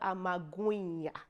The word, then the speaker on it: amagwinya: In South Africa, you say fat cake or amagwinya. Yes, did I pronounce it well? Amagwinya, yeah, or magwinya, fat cakes.